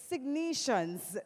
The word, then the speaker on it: Sygnus: right almost can somebody give me the proper pronunciation please signs thank you I stand corrected ladies and gentlemen